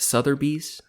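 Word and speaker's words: Sotheby's: class uh taught by how how do you say that sou bees SES s there's no r no R I've always hated that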